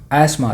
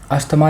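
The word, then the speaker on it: asthma: Next है एस्मा। देखो इसमें टी साइलेंट होता है, इसको पढ़ते हैं एस्मा, अस्थमा नहीं पढ़ते, लेकिन इंडिया में पॉपुलर अस्थमा ही है, आप कुछ भी बोल सकते हो।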